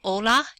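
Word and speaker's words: hola: June July and Thursday the letter H is silent you don't hear it so we have Ola and hotel hotel not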